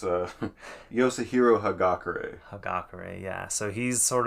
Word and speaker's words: Hagakure: his name for me okay it's uh yahiro hagakure hagakure yeah so he's sort of a he's